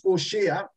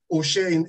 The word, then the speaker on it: Hoshea: joshua's first name is osha the the h is silent oh shayne in the hebrew hoshea